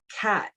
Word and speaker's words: khat: but they they have a leaf called cat it's spelled khat and um they they're